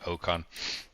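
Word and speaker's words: Ocon: Mine starts with an O and it sounds like okon.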